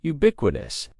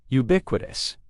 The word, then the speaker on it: ubiquitous: Next, don't be fooled by the first letter, U. We pronounce it with the U sound, ubiquitous, ubiquitous.